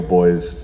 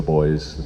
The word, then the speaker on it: Bhoys: they're known as the boys bhois because it's supposed to be it's like as though someone was pronouncing it with like a cork accent the boys the buys so while